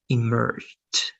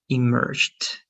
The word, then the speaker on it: emerged: Try just to add a final T at the end, like emerged, emerged.